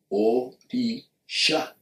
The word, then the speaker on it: Orisha: Because when you see the etymology of the word Orisha, you will see that Orisha means, or well, it has 3 syllables. Orisha.